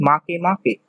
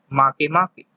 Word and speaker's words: Makemake: dwarf planets which are Ceres, Aries, Haumea, and Makemake. Please pay attention to their pronunciation. It's weird. It is Ceres, Aries, Haumea, and Makemake.